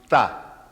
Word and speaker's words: Tha: It looks like our capital P, and it's pronounced Tha.